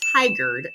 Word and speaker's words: Tigard: We have a lot of city names that are just quite frankly hard to pronounce. So don't feel bad if you get it wrong, but it's called Tigard to us locals.